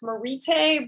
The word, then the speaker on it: Maritte: yeah, everyone it's pronounced Maritte, but I like Marty better.